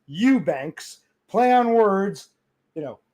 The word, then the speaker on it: Eubanks: Eubank ks pronounced Eubanks.